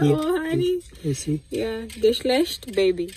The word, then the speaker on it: Geschlecht: Geschlecht means gender. Am I pronouncing it the right way?